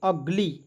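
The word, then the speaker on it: ugly: तो इसे पढ़ेंगे दोस्तों यू का उच्चारण अ के रूप में करेंगे शुरुआत में यदि आपको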